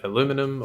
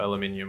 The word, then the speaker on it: aluminium: contentious thing with Al is it aluminum or aluminium we say aluminium in Australia I think Americans say aluminium whatever anyway you need